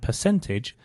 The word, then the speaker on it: percentage: The first thing to mention is that for both percent and percentage, the stress is on the cent, so percent and percentage.